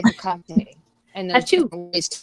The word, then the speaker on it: Hekate: me her name, but to a 5-year-old, it sounds like someone sneezing when you say Hekate.